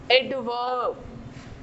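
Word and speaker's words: adverb: Adjective, एडवर्ब, एडवर्ब, are silent है।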